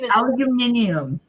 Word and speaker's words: aluminium: Or aluminum? Yeah. I'm trying to think of the way the British say it because they don't say aluminum. Hey, I got when we need her. Aluminium.